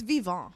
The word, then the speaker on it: Vivant: I like giving it the It's Vivant. Vivant.